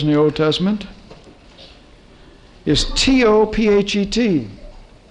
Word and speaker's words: Tophet: the old testament is t-o-p-h-e-t t-o-p-h-e-t tophet i think it's written th in the king james t-o-p-h-e-t-h tofit modern pronunciation and it means a